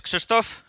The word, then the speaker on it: Krzysztof: my actual title slide uh my name is christto or Christopher for those of you who don't speak Polish and are unable to pronounce this super sounding strange name uh and